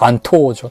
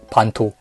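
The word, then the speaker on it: 蛮刀: 그래서 만도라고 써서 일본어로는 반도라고 읽습니다. 반토죠. 토. 반토.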